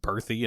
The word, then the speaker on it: Bertha: But for some reason, it's like instead of that, it's pronounced Berthy and Omi.